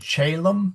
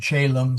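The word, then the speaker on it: caelum: C Ae Lu M and Chaum. C O E L U M. They are pronounced exactly the same.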